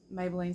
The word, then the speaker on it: Maybelline: Maybelline and that's Maybelline spelled without the Y m-a-b-e-l-l-i-n-e soars like Mabel Lane okay because that's after